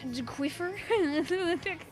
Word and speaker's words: Squiffer: We'll do Squiffer on... You know, we were on Manta Maria for all of like 3 seconds earlier, so why don't we do Zone's Manta Squiffer? It's pronounced Quiffer.